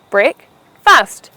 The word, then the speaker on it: breakfast: 2 syllables, break-fast, where you put the stress on the first syllable, causing it to sound as breakfast.